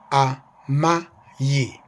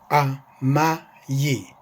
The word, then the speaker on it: Amai: Although the I sounds like a Y, it has a Y sound in it, but it's just the letter I. A-M-A-I, spelled this way. Amayi, amayi, amayi.